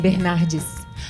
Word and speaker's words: Bernardes: My surname, Barnardes. Barnardes. Yeah, it would be like Barnardes in English. Barnardes. Barnardes. This. Yeah, with an S in the end.